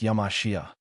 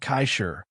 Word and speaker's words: Yamashita: Yamashita is pronounced Yamashia, not Kaishir.